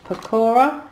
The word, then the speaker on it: pakora: inspired and caramelized onion got some sweet potato pakora that's how you say it um mediterranean falafels